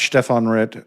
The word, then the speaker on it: Stephen Neff: Did I pronounce Stefan Red correctly?